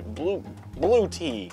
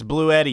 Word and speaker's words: Bluetti: Very generously given to us by Blue Tea. It's Blue Eddie, you idiot. You can't even pronounce this video's sponsor.